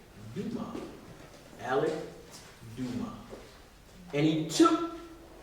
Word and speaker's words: Dumas: D-A-M-A-S. The S is silent. Dumas.